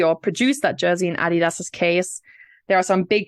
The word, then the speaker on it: Adidas: of money so we'll start with Adidas or Adidas as it's pronounced in American let's go with the German pronunciation because I think that's probably the right way thank you yeah so